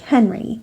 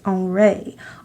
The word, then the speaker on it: Henri: he's a French artist you might think his name looks like Henry but in French it's pronounced on Ray Oh ray Matisse he